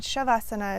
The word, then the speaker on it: Shavasana: understanding of it is that Savasana comes from more of a southern dialect in India, and Shavasana is more of a northern dialect.